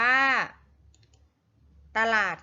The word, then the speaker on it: ตลาด: อ่าน ว่า ฝรั่ง อ่ะ ตลาด อะ อ่าน ว่า ตลาด ค่ะ เรา มา ฝึก สะกด คำ ที่ มี อักษร นำ อ่าน ออก